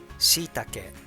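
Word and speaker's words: shiitake: flakes katsuobushi so prepare for sitake mushroom shitake and fish cake kamaboko kamaboko then start put on japanese udon noodles let's pronounce ingredients chicken thai torino momonik then beans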